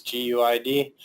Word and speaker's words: GUID: GUID or GUID, pronounced by a lot of tech people as GUID, but fallback pronunciation is GUID. No one will be confused if you say that.